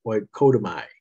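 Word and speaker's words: οἰκοδομή: Edify, that word is pronounced oikodomai. Okoidomai, it's a Greek term.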